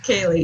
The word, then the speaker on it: Kaylee: Thanks, Haley. Kaylee. Did I say it right? Kaylee? Kaylee, yeah.